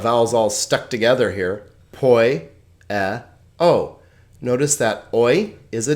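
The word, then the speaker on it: ποιέω: It's 1 consonant and 3 vowel sounds, 3 syllables. This is typical of Greek. I told you that it's a very vowel-rich language. Poieo, poieo.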